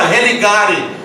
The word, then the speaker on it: religare: No latim ela se pronuncia religare, ou seja, ligar novamente.